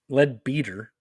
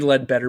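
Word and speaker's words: Leadbeater: Webster Charles Webster lead lead beater I would think it would be lead better but no it is spelled l e a d b e a t r that is a lead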